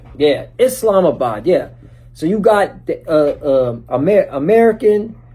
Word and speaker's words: Islamabad: It's Islamabad. Yeah, Islamabad.